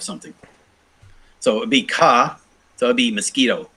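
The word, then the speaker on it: 毛: So some of these are giving me like kudu for ku, so spin or reel.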